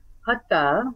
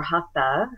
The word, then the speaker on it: hatha: And what I mean by that is hatha, or hatha, as we might be used to pronouncing it, can translate to mean forceful or effortful.